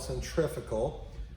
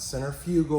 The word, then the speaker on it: centrifugal: it so this is what's called a centrifugal not centrifugal or if you try to pronounce it how it's spelled this is a triple